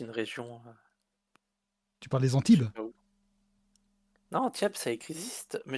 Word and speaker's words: Antibes: Antibes, oui, c'est bien, c'est Antibes. Je prononce mal.